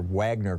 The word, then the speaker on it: Wagner: you mentioned uh the Wagner group or Wagner group if you want to americanize it it starts with a w but W's are pronounced like V's in German and Russian um uh so you